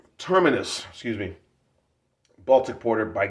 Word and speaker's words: Terminus: score 8.8 for the tremus trinus or termus tremus travis terminus i'll tell you right now right there there it is pronounced terminus excuse me baltic porter